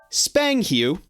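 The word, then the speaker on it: spanghew: with the first word and that word is spang hue spang hue so it is spelled s-p-a-n-g h-e-w spang-hu and now here's the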